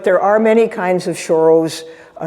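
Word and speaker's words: choro: Style of this music um is called a shoro. And that's spelled C H O R O.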